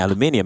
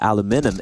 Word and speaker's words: aluminum: And then the Brits started calling it aluminium. And because Americans are always wrong, people assume that aluminum is wrong. But aluminum is actually, technically, scientifically, the correct way of pronouncing it, if I'm not mistaken.